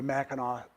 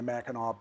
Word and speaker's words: Mackinac: It's Mackinac Island, Mackinac City, AC, and then the Mackinac Straits, AW, and the Mackinac Bridge, AW.